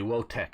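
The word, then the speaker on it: Wojtek: I would say Wotek is how I pronounce the bear's name, but yeah.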